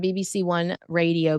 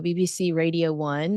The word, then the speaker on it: BBC Radio 1: So, Prince William appeared on BBC 1 Radio, BBC Radio 1 is actually how you say it over there, discussing mental health,